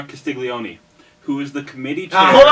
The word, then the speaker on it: Castiglione: My pick is, hopefully I pronounce his name right, Joseph R. Castiglione, who is the committee chair.